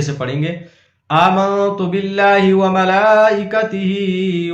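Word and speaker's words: ومَلائِكَتِهِ: ہجے سے پڑھتے ہیں۔ وملائکتہ، واو زبر وا، میم زبر ما، وما، لام کھڑا زبر لا، وملا، حمزہ زیر ای، وملائی، کاف زبر کا، وملائکہ، تا زیر تی، وملائکتی، ہا کھڑا زیر ہی، وملائکتہ۔ پیچھے سے ملا کر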